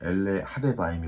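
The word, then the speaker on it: אלה הדברים: 하겠습니다 아 심야 길은 히브리어로 엘레 하드 바이 미 는 어 고 발음을 하구요 뜻은 계명 을 밝히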